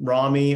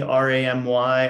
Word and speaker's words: Ramy: with her with me I started watching um Rami Ramy on Hulu is how it's spelled r-a-m-y it's a Hulu original it's brilliant